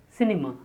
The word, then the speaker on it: cinema: The next 20th word is cinema. Cinema. C-N-M. Cinema. The stress on the first syllable.